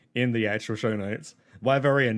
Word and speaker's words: Wyverian: Wyverian, not Wyvernian, just a heads up if you ever